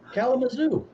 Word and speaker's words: Kalamazoo: How would you pronounce that, Mike? Kalamazoo.